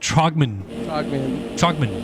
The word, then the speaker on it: Trogman: And Trogman is, as I've been told, is how you say it. Trogman.